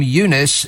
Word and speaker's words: Eunice: Travel chaos caused by Storm Eunice is the Eunice. EU nice. That's how it's spelled. I've only just noticed that. EU nice. Not EU, not nice.